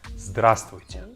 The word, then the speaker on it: здравствуйте: Our second word is здравствуйте.